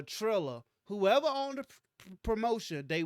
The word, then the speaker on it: Triller: owned uh uh trilla i was calling him thriller up until i had to spell it uh trilla whoever owned the promotion